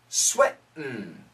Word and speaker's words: sweating: were sweating sweating now perfect pronunciation sweating and especially for Americans sweating but when we say it really fast we say sweat M now notice my tongue sweat my tongue goes to the top and it stops it